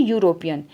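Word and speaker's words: European: देखिए यूरोपियन इसे यह ई इसमें साइलेंट होता है। ई इसमें साइलेंट होता है। यह यूरोपियन होता है। यूरोपियन। यू से स्टार्ट होगा यूरोपियन। और यू से स्टार्ट हुआ तो ये कंसोनेंट साउंड होगी और कोंसोनेंट साउंड होगी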